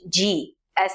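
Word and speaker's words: ဃ: It sounds the same as an English g as in glue. In Burmese, wool is called. Fourth letter is gaji. pronounced exactly the same as the previous one ga.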